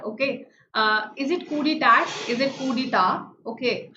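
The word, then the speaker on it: coup d'état: So the T is silent, and coup de grace, you will also tell me its meaning and in which all contexts I can use it.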